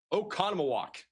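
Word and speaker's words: Oconomowoc: I know I'm butchering that name. I try my best here. Okonamok. I I I can't remember anymore. Oh, wait. I have the pronunciation open. Okanowok in Wisconsin.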